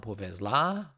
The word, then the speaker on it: повезло: Нам повезло. Повезло. O, it's accent, so you pronounce it like O.